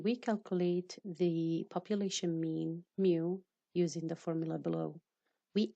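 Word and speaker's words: μ: For the population mean, we use mu, and it is pronounced mu, and it is computed using all the individuals in a population.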